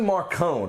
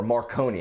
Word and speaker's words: Marcone: But probably the most interesting side character is Johnny Marcone, or Marconi, however you want to pronounce it.